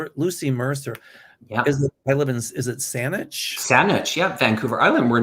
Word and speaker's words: Saanich: Oh, now, Kevin, you'll help me with these pronunciations. Lucy Mercer. Yeah. Is it Saanich?